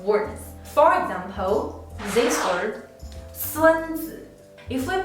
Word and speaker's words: 孙子: If we pronounce this character the original 3rd tone, it will be 孙子. The word means an ancient military strategist. But if we pronounce this character the neutral tone, 孙子, it means grandson.